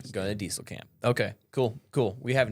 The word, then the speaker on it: Diestelkamp: So, it's Dieselcamp.